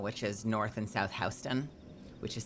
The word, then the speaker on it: Houston: Soho and Nohoo, which is north and south Hston, which is spelled Houston, but in New York, you say Hston.